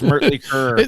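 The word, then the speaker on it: Mötley Crüe: It's Mertley Curr. That's exactly the way it should be pronounced.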